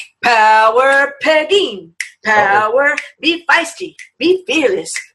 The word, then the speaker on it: Pegine: First off, if you read Pegine, people would start saying Pegine, Penguin, Paganini.